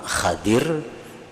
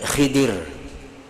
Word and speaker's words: Khidir: dengan gelar Khidir jadi membacanya ada dua cara yang pertama Khadir nabi Khadir atau Nabi Khidir KAD nabi Haidir Nah